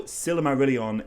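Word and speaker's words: Silmarillion: to them and so although silimarilion is definitely the most common pronunciation think silam are really on is closer maybe to what Tolkien had in mind either way these aren't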